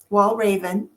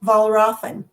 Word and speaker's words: Walraven: So everyone it is Janet R Janet Walraven Wall Raven Wall Raven Sorry I'm changing I'm changing your name And you said it's pronounced I also want to hear the pronunciation